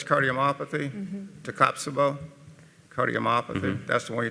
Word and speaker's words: Takotsubo: Hey, it's called stress cardiomyopathy, Takotsubo. That's how y'all pronounce it. Takotsubo, yeah.